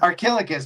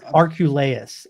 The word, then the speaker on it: Archelaus: Archilochus. I think so. I have a weird. No, it's Archelaus.